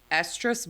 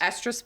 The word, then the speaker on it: estrus: I'm going to mispronounce this word. Estrus bleats. Estrus bleats. Estrus bleats. She said it perfect the first time. I did? Yes. Estrus bleats.